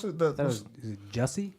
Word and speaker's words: Jussie: Before we go into to Jussie and the what's how do you pronounce it? That was is it Jussie? Jussie.